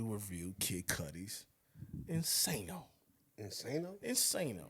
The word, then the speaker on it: Insano: kid cuties insano insano insano is how we pronounce that with the abstract our